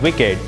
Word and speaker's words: WICED: connectivity for embedded devices spelled w-i-c-e-d and pronounced as wicked is broadcast solution to